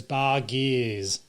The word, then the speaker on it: Bargearse: No, but you pronounce it with the, kind of like a French type thing, so Bar Gears, BARGEARSE.